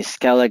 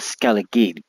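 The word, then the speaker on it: Skellige: in skalla and that is the way you pronounce it it's actually Scala is actually a GIC word so it's pronounced Scala not scalid as you can see I've only thing I've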